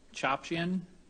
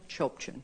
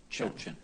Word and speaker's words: Chopchian: It's Chopchin. It's fine. How do you say it? Chopchin. Chochin? Chopchin. Okay, yes.